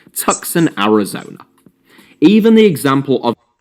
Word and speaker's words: Tucson: team based in say tucson arizona even the example of is pronounced tucson arizona not tuscan arizona but point taken a